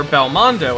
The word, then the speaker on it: Belmondo: start with Belmont or Belle mondo as it's originally pronounced in Japanese which is a direct